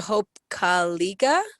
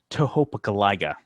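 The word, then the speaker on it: Tohopekaliga: we have Lake to Hope CGA you're so close on that one I almost I almost want to give it to you it's uh Lake toopa calaga topa okay TOA not kiga you would like 85%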